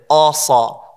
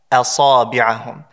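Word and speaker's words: أصابعهم: sad after the Hamza, people say asa, asabi'ahum, right? And so what we have to ensure is that the Hamza is pronounced with lightness. A, asabi'ahum.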